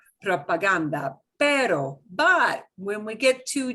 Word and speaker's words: propaganda: like you pronounce it no g gets a heart sound with g-a-g-o okay so propaganda right propaganda but when we get